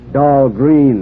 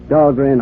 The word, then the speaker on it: Dahlgren: Of course, they mispronounce it down there. Dahlgreen, they say, but still named after me. But at Annapolis, the Midshipman's Armory, they call that Dahlgren Hall. They pronounced it right, Annapolis.